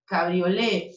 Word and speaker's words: cabriolé: Sin T. Cabriolé, el del respaldo con T. No se pronuncia castellano la T, así que lo pronunciamos cabriolé ambos.